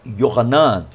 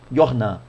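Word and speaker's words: יוחנן: E na língua hebraica, né, o nome João é Yohanan.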